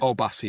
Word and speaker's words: Obasi: Obasi.